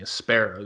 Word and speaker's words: espero: name of the company espero the way it's spelled is hope and Latin and that's that's always